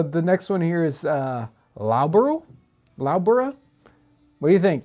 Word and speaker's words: Loughborough: Yeah, So- somebody already commented So it's Loughborough.